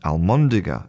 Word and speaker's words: almóndiga: So, instead of being albóndiga a l b, it becomes almóndiga a l m.